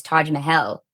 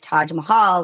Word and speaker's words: Taj Mahal: the Taj Mahal but as I was traveling in India and had actually visited and hearing the actual pronunciation is Taj Mahel but if I say